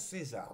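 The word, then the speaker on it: CAESAR: Alors j'ai demandé hein, ça s'écrit C A E S A R mais il paraît que ça se prononce César. Donc je prononce César hein, vous savez, on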